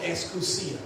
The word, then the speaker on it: exousia: Somebody say exousia. Or exousia is the way you pronounce it in Greek.